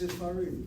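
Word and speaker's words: ספרים: Oh, it's not Ha-Sepharim, it's just Sepharim? It's Sefarim.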